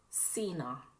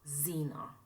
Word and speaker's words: Sina: It is Sina, not Zena. There is no Z in my name.